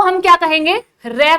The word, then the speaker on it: र: भाई जब आप रे का उच्चारण करते हैं तो हमारी जीभ में एक वाइब्रेशन होता है, हमारी जीभ जो है वो कांपती है।